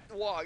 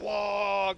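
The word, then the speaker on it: Waaagh: It's not pronounced Wog, it's pronounced Wog, by the way. I have to say it like that.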